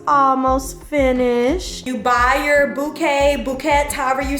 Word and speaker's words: bouquet: How do I say bouquet? Which language? English. Bouquet. Bouquet. Buy your bouquet after your dress. Bouquet. Okay. So, it's like bow and then K.